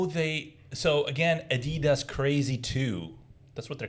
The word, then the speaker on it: Adidas: So we pronounce it Adidas because we're from Syria, so we say Adidas, but it's pronounced Adidas.